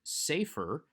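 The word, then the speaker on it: סֵפֶר: syllable so for instance the word for book safer has a say ray in the first syllable but often it will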